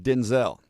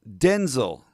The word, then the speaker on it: Denzel: He told Jimmy Kimmel his name is not pronounced Denzel. Quote, "My name is pronounced Denel," Washington continued, using a clipped e vowel in the second syllable instead of a long vowel. Denzel. Denzel. The emphasis is on the first syllable.